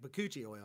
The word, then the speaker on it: Bakuchiol: I'm like, "How do you say that? That just sounds weird." He's like, "Bakuchiol."